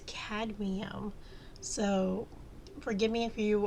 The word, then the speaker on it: cadmium: said said that word I think I said cadium um like I said forgive me if I mispronounced that word that metal because that metal for some reason I keep want to say cadium cadium but it's it's cadum so forgive me if